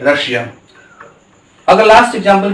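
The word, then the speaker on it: Russia: Double yes के बाद आई और ए आए तो उसका उच्चारण भी बड़ा श होता है। क्या होता है? बड़ा श होता है। यहां में देख सकते हैं रशिया।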